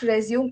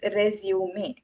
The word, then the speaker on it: résumé: It is not resume it is resume. Yes, the e needs to be pronounced additionally as resume because resume